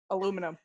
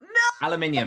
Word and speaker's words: aluminium: wow twisted that jesus say the word aluminium properly aluminum aluminium you have to say it properly that's that's the part of the deal that's the queen's english not the rebels english aluminium which family member